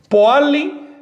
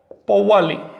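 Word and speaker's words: pohualli: sobre todo al calendario, se dice Poali o Powali. La pronunciación es independiente de su significado. Puedes pronunciar exactamente de las dos maneras y sigue significando lo mismo.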